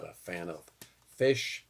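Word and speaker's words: Phish: I'm not a fan of Fish. P H I SH.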